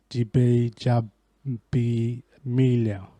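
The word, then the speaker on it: Gbajabiamila: definitely pronounce that wrong is spelled GBA J a B I am ila so I felt break that down it's DB job B me leo says we take it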